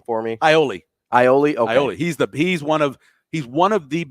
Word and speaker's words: Iole: And then Shane, how do you pronounce Kevin's last name for me? Iole.